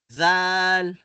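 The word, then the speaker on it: ذال: So ito ay iipit natin ang ating mga dila, ilalagay natin ang posisyon ng ating dila sa ating mga ngipin. Zal.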